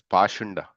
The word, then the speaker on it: Pakhanda: The word Pakhanda used in this verse is sometimes pronounced as Pashanda.